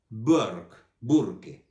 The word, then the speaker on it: Burke: Entonces, James Florence Burke, se pronuncia en inglés, por eso lo pronuncio así, Burke.